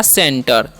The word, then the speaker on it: center: सी के साथ क्या है, ई है तो उसका उच्चारण क्या हो जाएगा, स।